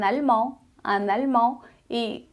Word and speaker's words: allemande: Em francês fica un allemand. E uma alemã fica une allemande. Une allemande. Un allemand, une allemande. Então, a adição do E deu som ao D.